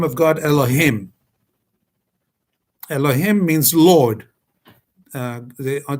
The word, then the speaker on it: Elohim: I'm saying Elohim for educational purposes, but it's supposed to be said for if you're just using it randomly as Elohim. But I'm going to say Elohim because people should understand exactly how it's pronounced.